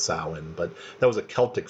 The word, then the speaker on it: Samhain: It's pronounced Samhain, but it's Samhain. So yesterday I was probably saying Samhain, pronouncing it phonetically, but it says it's pronounced Samhain.